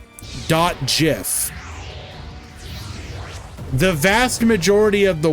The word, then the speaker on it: GIF: type says that it is supposed to be pronounced GIF do JF the vast majority of the world calls it